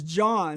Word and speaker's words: Jean: That's John, spelled like Jean, Mother's nod to the French.